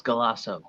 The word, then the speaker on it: Galasso: last name for us so my last name is literally just how it's spelled it's galaso g-a-s-s-o so nothing crazy about it my mother is the